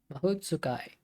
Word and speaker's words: Mahotsukai: Japanese syllables end on the vowel apart from the single N. There you go. Mahotsukai.